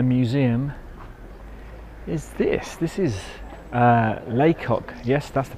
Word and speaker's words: Lacock: Abbey and the museum is this this is Leacock yes that's the pronunciation how is boto pouncer Leacock village and